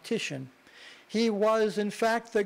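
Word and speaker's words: Titian: it's pronounced TI t i a an and pronounced tishan he was in fact the greatest Venetian Renaissance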